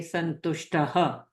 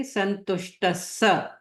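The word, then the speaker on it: सन्तुष्टः: So whenever the visarg comes before sa, then we don't say santushtaha. While reciting, this visarg will join sa straight away. So we'll say santushtassa, santushtassatatam. We will not say santushtaha, then satatam.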